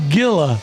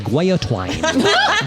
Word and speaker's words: guillotine: So there's no gilla. No. It's a gia. Never. Gia. Chris, it's it's not like a gilla monster. Gia. Yes, thank you. The correct pronunciation is guay-a-twine.